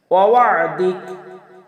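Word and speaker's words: وعدك: ওয়াদিক আমরা অনেকেই পড়ি ওয়াদিক, আসলে ওয়াদিক হবে না, ওয়াদিক ওয়াদিক।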